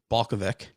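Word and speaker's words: Balkovec: coach that i don't know how to uh pronounce their name it's balkavic and uh she was promoted to the tampa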